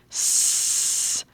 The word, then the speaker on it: swerve: Now, in this word, there's a V at the end, so it's going to end with a V sound because that E is silent.